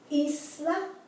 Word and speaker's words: isla: Emancipar, emanciparse, ida, imitar, isla, right? The I never has the I sound like it does in English.